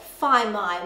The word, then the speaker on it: whai mai: to pronounce phi mai because the a i rhymes with kai and everyone knows how to pronounce kai as in food so if you ever